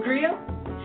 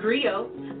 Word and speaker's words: griot: A griot? It's pronounced griot, or in English, a griot.